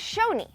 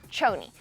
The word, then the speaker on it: Choni: on the same but Cheryl is the SH sound so it's shown me not Joanie but hey you don't